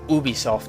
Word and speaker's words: Ubisoft: I've heard that it's actually pronounced Ubisoft now, like O-O-B-O, O-O-B-I. But I still say Ubisoft.